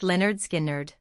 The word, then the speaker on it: Lynyrd Skynyrd: Lynyrd Skynyrd's breakthrough came with their 1973 debut album, famously titled Pronounced Leh-nerd Skin-nerd.